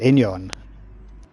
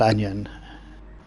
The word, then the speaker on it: Enyon: How do you say it? Enyon. Yeah, in 50. Yeah. Not Onion.